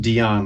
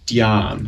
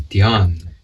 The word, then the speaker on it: Dhyan: So I want to start off because I noticed I said your name, Dhyan, and it's not Dion like Deion Sanders. Thank you. It's Dhyan. It's Dhyan. Yeah. Single syllable, yeah.